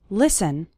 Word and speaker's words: listen: to an English podcast the letter T is silent in the word listen listen listen to an English